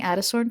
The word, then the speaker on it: Adastorn: I wonder if I'm saying Adastorn correctly. I'm just pronouncing it like Addison, but with an R.